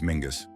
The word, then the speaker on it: Mingus: What kind of name is Mingus? Rhymes with dingus.